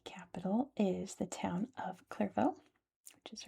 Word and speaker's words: Clervaux: Clervo is its French name and apparently it's English language name too.